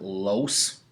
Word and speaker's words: loess: This soil is called loess, or if you want to pronounce it, los.